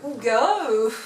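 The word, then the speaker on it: hygge: Alors, est-ce que tu peux regarder pour être sûr que je le prononce bien? Parce que entre le ig, le ouge, le ouga, voilà, enfin le truc danois quoi.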